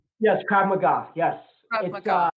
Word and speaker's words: Krav Maga: was this second degree black belt in Krav Marga. Am I saying it right? Yes, Krav Maga.